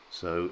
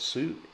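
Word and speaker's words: Soo: And in fact, it's pronounced so, as though it was so. So it's pronounced su, it's pronounced so, so.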